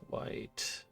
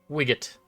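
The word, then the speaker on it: Wight: want wildwood or dusk white or wit or whatever? However it's pronounced. Wigot. No, I'm pretty sure it's white. W I g ht like light.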